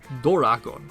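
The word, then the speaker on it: ドラゴン: The Japanese pronunciation of dragon is Doragon, the first two sounds being Dora.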